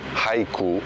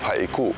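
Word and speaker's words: Haʻikū: pronouncing this name cuz most people are here still today say Hau instead of hiu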